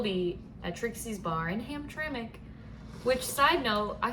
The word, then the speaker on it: Hamtramck: It's spelled there's even no worse. vowels except for the A. Hamtramck.